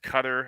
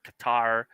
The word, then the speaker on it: Qatar: I've heard it pronounced Qatar. I've heard Qatar, but it's Qatar. It's either Qatar or Qatar. Yeah, Either one. Either one. But yeah, I'm serious. It is either one.